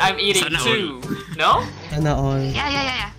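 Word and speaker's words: sana all: How do I say it with the correct pronunciation? Sanya? Sanya? Is it Sanya? Sana Oil.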